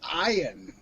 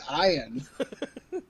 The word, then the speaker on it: Ian: scheringer or whatever and it's spelled ian but he always insists it's iron and it's like you it's ian if you weren't a celebrity it'd be ian why the [ __